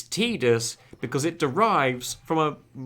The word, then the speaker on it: Tidus: like tidy us please I said Titus before until you told me about the mythology thing and then and then I was okay calling him Titus it's actually pronounced tedu's I go giant by